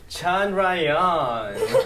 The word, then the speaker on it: Chandrayaan: So the official pronunciation will be Chandrayaan.